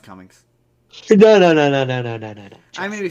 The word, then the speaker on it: Cumming: That Kuman. Alan Kuman. no, it's pronounced Cummings.